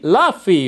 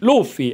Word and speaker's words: Luffy: Hannibal e Monkey di laffy ottimo davvero ottimo no chiedo scusa ma anche di Luffy Ecco questa è la pronuncia esatta ancora non escono carte